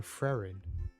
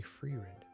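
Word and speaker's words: Frieren: I actually found out only recently that I've been saying it wrong. I've been saying Frerin, but it's actually Freerin.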